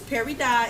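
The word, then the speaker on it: peridot: perod dot perod dot it's not pero cuz we ain't French parido perod dot it's Perry dot it's it's spelled p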